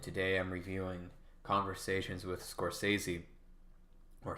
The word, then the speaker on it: Scorsese: review today and today i'm reviewing conversations with Scorsese or Scorsese if we want to pronounce his name properly if some of you